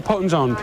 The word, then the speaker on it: Potenzone: Is it Potenzone or Potenzone? No, Potenzone.